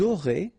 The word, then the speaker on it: aurez: you make the liaison, vous aurez, a Z at the end here, et, aurez, liaison here, vous aurez, ils auront, final T not pronounced, elles auront.